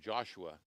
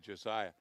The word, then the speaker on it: Josiah: up to me says you pronounce my name wrong I think I go to call him Joshua and he said Josiah and you and you